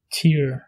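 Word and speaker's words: tír: Le deuxième mot, pour dire être en irlandais, on prononce be. On dit be. Pour dire pays, on dit tier.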